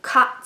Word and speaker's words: caught: And AU says ah, just like AW says ah. So k, ah. And then GH says nothing. They're silent. They don't like to talk when they're together. See how they're kind of turning their backs on each other? T. So k, ah, t. Caught.